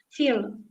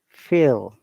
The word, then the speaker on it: feel: right column right right feel fill feel remember if you there are two you know vowel sound together generally it is longer feel feel feel and